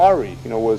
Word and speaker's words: awry: A good relationship can go awry, can go, what? Awry. Is that how they pronounce it in Ireland? Yeah, here? Yeah, okay. All right. Anyway, it's spelled A-W-R-Y, regardless of how you pronounce it.